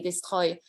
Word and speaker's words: Destroy: So Destroy was one, I pronounced it the French way, Destroy.